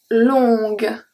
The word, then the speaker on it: longue: So here, because we have the U and the E that we don't pronounce, the only letter that I pronounce is G. Longue.